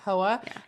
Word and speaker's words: Hoa: Is that how they pronounce the name? Right. Yeah. Yeah. Hoa.